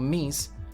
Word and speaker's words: Ms: miss mrs and miz the title miz pronounced miz or mies was introduced in the